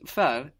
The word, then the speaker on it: ver: So, this ver is quite a common addition, this V-E-R. Remember, it's a V, because the V letter in German is pronounced like F.